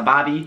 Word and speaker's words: barbie: This one should probably have been higher up on the list, but that is a Bobby. Spelled like Barbie, but not that Barbie.